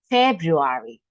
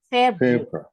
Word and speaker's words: February: correct January let's listen let's continue February okay February so we don't pronounce they are February February February we don't pronounce they are February February